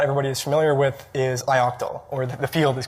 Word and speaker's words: ioctl: is familiar with is ioctyl or the field is called unlocked i-octyl so i will briefly introduce what that is ioctal or ioctl some people pronounce it that way it stands for input